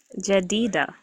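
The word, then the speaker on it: Jedidah: Jadida. Jadita. That's a That's a beautiful name. How do you spell it?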